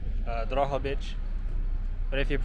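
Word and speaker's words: Drohobych: If you pronounce it the Ukrainian way, it's like Drogobytch. But if you pronounce it the Russian way, it's Drogobytch.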